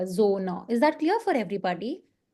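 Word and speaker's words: Sonne: Okay, so that is why it's not sona, it's z. Zona.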